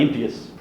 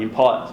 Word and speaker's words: impious: I say impious rather than impious because it actually is impious.